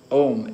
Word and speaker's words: Om: Om, A-U-M, the three syllables. So Om, actually sometimes said one syllable. Om, Hari Om, three syllables, four syllables.